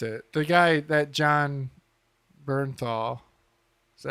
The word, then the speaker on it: Bernthal: The guy that John Bernthal, is that how you say it?